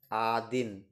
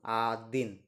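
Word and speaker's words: один: knoll knoll মানে zero one কে বলা হয় আদিন ওয়ান কে বলা হয় আদিন আমার সাথে উচ্চারণ করুন আদিন আদিন টু কে বলা হয় দোভা দোভা দোভা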